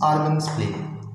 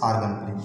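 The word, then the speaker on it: Argand: होता है, this is आर्गन प्लेन। ठीक है, डी इज साइलेंट है, so this is आर्गन प्लेन, इसको आर्गन प्लेन भी बोला जाता है बेटा।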